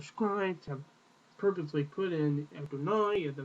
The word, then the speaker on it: Adonai: com under the no the Divine which gives you the pronunciation of Adonai the Divine name however